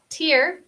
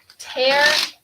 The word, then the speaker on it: tear: For example, I can tear this paper from my notebook. Tear and tear. Se escriben igual, pero tiene una pronunciación diferente y tiene diferentes significados.